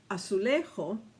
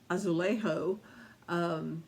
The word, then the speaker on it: azulejo: It's pronounced differently, but it's spelled the same. It's azulejo, azulejo, as opposed to azulejo.